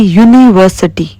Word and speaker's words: university: And same like here, you can see university. It's a vowel, u, but the sound is u, u. It's a consonant sound.